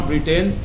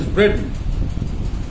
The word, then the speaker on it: Britain: इसी तरह से ब्रिटेन ना कहें कि स्पेलिंग पे जाएं कि BRITAIN, ब्रिटेन होगा, that is नॉट ब्रिटेन, that is ब्रिटेन।